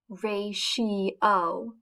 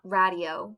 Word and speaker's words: ratio: a ratio which is pronounced ray she oh not radio which is how it looks a ratio is a